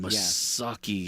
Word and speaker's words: Massucci: I'm like, "Oh man, Massucci.